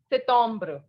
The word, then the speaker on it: septembre: And the pronunciation will be septembre. What it will be? Septembre. First of all, P will not be pronounced. And second, the sound of EM is O. So it is septembre.